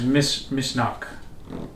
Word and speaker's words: Misneach: It's pronounced Misneach. Oh, I can see that. Irish? Gaelic. Gaelic? The Gaelic language is fundamentally Irish.